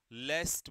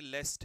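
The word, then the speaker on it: lest: आदर और वेदर र लेस्ट बेटा ये लेस्ट है एल ई एस टी इसकी स्पेलिंग ना नोट्स जब बनाओगे तो ठीक कर लेना यह लीस्ट नहीं है लेस्ट है यहां पर ठीक है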